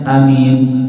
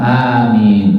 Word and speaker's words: amin: Jangan membacanya amin salah ya. Atau amin juga salah gitu ya. Ucapannya sama amin cukup ya. Jangan terlalu panjang jangan pula terlalu pendek dan panjangnya sama. A dengan min juga panjang sama panjangnya sama.